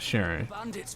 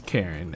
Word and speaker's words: Charon: rumors on Karen then that's how they pronounce her name I'm not sure why I know it's not sharing but it's Karen and I keep saying sharing because every time I see your native how I want to pronounce it within my brain but it shouldn't be